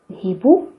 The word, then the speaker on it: hibou: Regardez la lettre H. Dans ces mots, elle est muette. Il ne se prononce pas, mais dans le mot hibou, il se prononce hi.